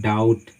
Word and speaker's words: doubt: आप एग्जांपल ले सकते हैं, जैसे DOUBT, तो यहाँ पे जो बी है वो साइलेंट है, हम इसका उच्चारण करते हैं डाउट, ना कि डाउट। अगर आप बी का साउंड का उच्चारण लेते हैं, ठीक है, प्रोनाउंस करते हैं, तो आपका गलत हो जाएगा।